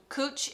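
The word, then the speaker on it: cwtch: thank you eve um cooch is pronounced cooch um so that was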